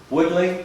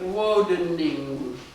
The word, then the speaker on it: Wodening: Is that the correct way to say that? Wodening. Woodling? Wodening. Thank you for pronouncing it correctly.